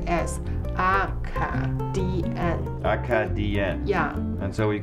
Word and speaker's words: Acadian: It's pronounced as Acadian.